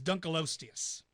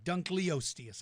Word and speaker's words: Dunkleosteus: this one's pretty amazing this is Dunkel osseous I mean I'm sorry Dunkleosteus I always say Dunkel Dunkleosteus Dunkleosteus is an armored fish